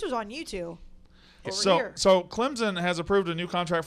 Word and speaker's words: Clemson: Clemson or Clemson? It's supposed to be it's supposed to be Clemson. Yes. No Z.